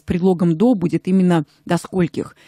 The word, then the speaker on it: скольких: далее в официальных письмах до скольких вы работаете сегодня Михаил до Сколь до скольких до скольких Да правильно до скольких не до скольких и не до скольки вы работаете а именно до скольких потому что сколько мы